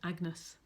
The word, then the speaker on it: Agnes: to his daughter, and he calls her Agnes, or Agnes it would have been, or Annis it would have been pronounced in Elizabethan times.